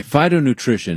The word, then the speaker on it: phytonutrition: Okay, phytonutrition is really important, and that's okay. I got to go back to the name because it's spelled P-H-Y-T-O.